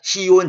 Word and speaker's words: 시온: 이 지온이라는 말은 사실 이제 제가 원래 히브리 발음 그대로 하려다가 그냥 이렇게 썼습니다만은 요즘 사람들이 이제 시온, 지온 그러잖아요. 원래 히브리 발음은 찌온입니다.